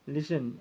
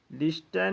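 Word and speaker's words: listen: देखिए क्या हो जाएगा लिसन एल आई एस टी ई एन लिस्टन नहीं बोलिएगा इसको इसको लिसन बोलिएगा क्योंकि टी के पहले अगर एस आता है तो टी का उच्चारण नहीं होता है अब रुको रुको को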